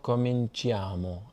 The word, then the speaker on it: cominciamo: Quando cominciamo a studiare arabo? Quando cominciamo a studiare? Yes, the I is not pronounced. Cominciamo rather than cominciamo, but I understand that can be a little annoying.